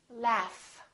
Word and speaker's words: laugh: The word laugh. This GH is actually an F sound, right? F, f, f. There's no vibration in my vocal cords, so the F is actually a voiceless sound.